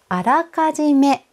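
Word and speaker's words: 予め: かじですっよく福祉としてあらかじめが使われていますあらかじ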